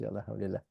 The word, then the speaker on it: alhamdulillah: becom us that's right exactly that's how you pronounce alhamdulillah so brother okay we missed you just now